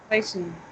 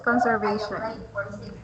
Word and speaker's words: conversation: Conversation. Conversation. Okay, conversation. I included this because sometimes I confused. yeah. Okay, if you notice sometimes you pronounce conversation as conservation.